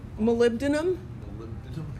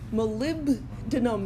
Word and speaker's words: molybdenum: How do you pronounce that word? Molybdenum? Molybdenum? Molybdenum.